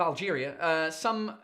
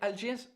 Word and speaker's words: Alger: Claire Angelina says similar story in Algiers, capital of Algeria. Is it Algiers? How do you say Algiers in French? Oh, Alger. It's not Algiers.